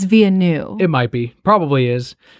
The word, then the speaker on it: Villeneuve: Villeneuve is how they're pronouncing it, but they spell it out Villanueve, so I've always been saying it Villanueve. No, it's Villeneuve.